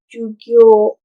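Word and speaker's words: 授業: Jadi dibaca panjang gyo, gyo. Jadi dibacanya jugyo, jugyo, jugyo.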